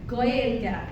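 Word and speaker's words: Gaeilge: Or the Irish language in Irish is Goya. If you want to try repeating that after me, that's probably the most important thing you'll learn today is the name of the language in Irish is goya.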